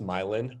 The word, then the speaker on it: Milan: Yeah, so further west, you'll see homes that are, so Milan, we actually pronounce Milan.